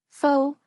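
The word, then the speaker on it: phở: especially in the West faux pronounced fa is a beloved Vietnamese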